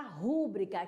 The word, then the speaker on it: rubrica: bacana Ok quem já ouviu falar palavra rubrika que o certo é rubricar que a sílaba tônica é o bri não um ruim e